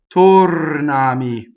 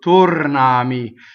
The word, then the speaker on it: tornami: Jordan of harmonization right so tornami now the second vowel is ah right so as a phonetic vowel as opposed to oh just two forms in pronunciation is always a as always ah I is always e so tornami so the our